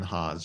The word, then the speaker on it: Haas: like that you said it's van like the car and haas like the avocado it tickled me so